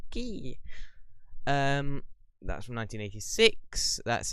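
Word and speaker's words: Quay: queer i know it's spelt queer but it's pronounced key um that's from 1986.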